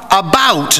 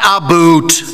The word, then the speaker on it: about: speak English and French not American and I pronounce it about not aboot I can proudly sole my country's flag on